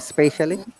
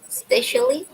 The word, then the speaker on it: especially: saying this word spatially can you say the word spatially yeah especially especially okay especially specially